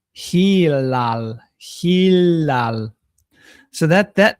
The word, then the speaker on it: Hilal: this name because they they call it Helal Helal But it's actually Hilal.